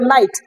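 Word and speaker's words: knight: থাকলে কে বাদ যায় কে এর পরে এন থাকলে কে বাদ যায় অর্থাৎ কে এর উচ্চারণ হবে না কিন্তু করতে হবে নাইট কিন্তু উচ্চারণের তো একই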